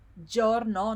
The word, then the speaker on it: giorno: We saw the word buongiorno, and I said that the j sound here is j, it's not je, it's j. So it's giorno, not giorno.